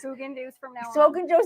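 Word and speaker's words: Häagen-Dazs: Guys, the correct pronunciation is Haagen-Dazs. Haagen-Dazs. Haagen-Dazs from now on.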